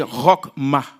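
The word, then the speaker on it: חכמה: Dans la Bible, sagesse en hébreu, c'est rockma. C'est c'est comme ça qu'on le prononce.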